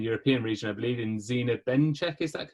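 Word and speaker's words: Zina Bencheikh: You've got a new leader for the UK and European region, I believe, in Zina Benchek. Is that correctly how I pronounce her name? Zina Benchik, yeah.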